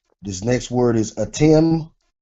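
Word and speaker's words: אתם: This next word is atim.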